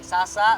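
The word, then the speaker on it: س: Itu adalah S biasa. Ya, ini sa.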